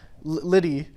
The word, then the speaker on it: Lydie: Lydie, Lydie. It's like French or something. Lydie.